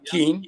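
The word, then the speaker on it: Kean: un catedrático de la universidad King que se escribe K e a n en Nueva Jersey en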